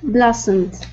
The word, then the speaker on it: blossomed: can still say Okay blossomed good yeah so that o is going to make an a sound one more time blossomed